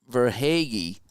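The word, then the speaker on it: Verhaeghe: so it could chuck setting up verhagi that's how you say his name and we're tied at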